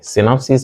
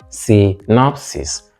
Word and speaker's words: synopsis: syis synopsis summary summary synopsis means summary synopsis not synopsis final word group we